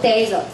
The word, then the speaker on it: desert: 哎，这个就是沙漠，读作 desert。